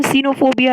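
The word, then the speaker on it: xenophobia: इसे हम सीनोफोबिया ही प्रोनाउंस करेंगे।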